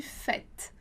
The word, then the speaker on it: fête: E aí, a particularidade da pronúncia para a vogal E vai ser justamente a pronúncia com som de E. Então, a gente vai dizer simplesmente fête, fête.